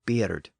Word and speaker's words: bird: So we find the word spelled as B-I-R-D and probably pronounced something like beard.